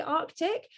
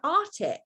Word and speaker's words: Arctic: And I don't understand how not one of them knows how to say Arctic. They were all pronouncing it Arctic. And I was like, why is nobody hearing the C?